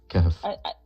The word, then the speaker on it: Kahf: Yeah, Don't know it's how to pronounce Kahf, it. not Kaif. Kahf.